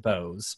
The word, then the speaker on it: Boaz: that he pronounces it bosz because it is like how you spell Boaz in the Bible Yeah right yeah but but apparently he likes it pronounced Bose but yeah the libertarian